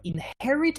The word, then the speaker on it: inherit: that is the verb inherit is a verb and the h is is not minute we say inherit in english editor is